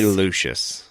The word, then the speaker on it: Lucius: I'm saying that wrong. Lucius. I say Lucius. Like Luscious. He's Lucius.